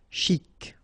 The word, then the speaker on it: chic: Okay, you pronounce the final C and then CH together. Sh. Chic.